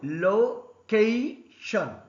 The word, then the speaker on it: location: For example, location. Here 3 syllables. C is stressed.